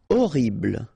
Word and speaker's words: horrible: Horrible, okay, remember we don't pronounce H here, horrible.